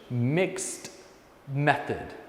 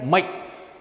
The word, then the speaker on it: mixed method: difficult word in English mixed method not Mike don't say Mike mixed method that's combining quantitative and